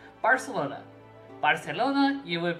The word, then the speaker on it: Barcelona: uh Latin Spanish um they pronounce it as an S so like it so like Barcelona Barcelona you would pronounce